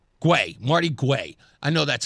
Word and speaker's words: Guay: Guay, Marty Guay.